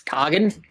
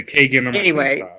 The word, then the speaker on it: Kagan: whole ears bleed yeah I think uh the canonical pronunciation I.E the one that Rising Empire goes with is kogan so I someone say Kagan the PO the idea